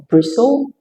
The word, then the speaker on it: bristle: Other uncommon words with silent T are bristle, thistle, and gristle.